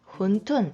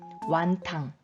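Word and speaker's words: 馄饨: 헌 툰 후원 툰 훈 둔 이라고 하는 만두 구요 2만대 특징은 국물 탕 있어요 국물이 있는 반도 이게 군 톤이라고 하고 우리에게는 홍콩식 발음이 조금 더 익숙하실 거에요 완탕 완탕 면이 들어가며 완탕면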